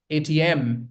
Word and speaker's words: ATM: For example, we have ATM. So you put stress on the last syllable, okay?